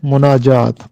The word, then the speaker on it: مناجات: یہ درست تلفظ ہے مناجات، میم پر پیش ہے، مناجات۔ ورڈزورتھ، جو کہ ایک